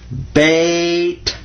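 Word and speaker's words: بيت: It does in Arabic, because the word in Arabic for house is bait. Bait. Because the ya sound in Arabic is just like the y sound in English. Watch this.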